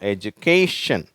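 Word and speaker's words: education: எஜுகேஷன் அப்படின்னா கல்வின்னு அர்த்தம் இங்க அந்த ஸ்ட்ரெஸ் இருக்கு அதனால அந்த கே அப்படிங்கறது அழுத்தி சொல்லுவோம் எஜுகேஷன் சரியா இதை வந்து முதன்மையான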